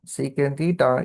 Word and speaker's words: secant: Secant theta is, see, sec theta, don't read it as sec theta. Instead, read it as secant theta.